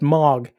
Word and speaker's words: Moog: I think it's pronounced moog. And no, it is it is a moog. It's a moog.